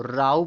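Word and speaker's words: row: अगर आर ओ डब्ल्यू को राऊ पढ़ा जाएगा राऊ।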